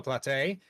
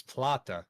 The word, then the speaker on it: Plata: And do you think the Lamborghini could also be, Have I been pronouncing that wrong? I don't know. Well, Jesse has actually corrected us. It's Plata.